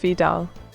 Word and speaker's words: Vedal: Wait, how do you pronounce Vedal? Oh, it's Spad, it's pronounced Vidal.